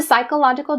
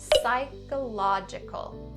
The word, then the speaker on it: psychological: So skip the P and just say psy.